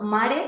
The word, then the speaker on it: mare: Bueno, mare significa madre, pero en Andalucía, en general, esta pronunciación es habitual, ¿no? En lugar de madre, decir mare.